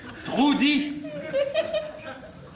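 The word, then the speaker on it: Trudi: manger trop dit trou dit t r u d i je crois oui il y a pas dou la haute sur le U il se prononce ou je pas demandé s'il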